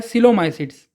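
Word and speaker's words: Coelomycetes: जैसे इसका जो प्रोनाउंसिएशन है वो है सिलोमाइसिट्स। अगर ये सी और वो होता तो ये होता को, अगर ये सी और ई होता तो होता से, लेकिन सी ओ ई है, इसीलिए सिलोमाइसिट्स।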